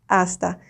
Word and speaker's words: hasta: Like when I say that, it's like the pronunciation, because remember, H in Spanish is silent. You never say it, okay?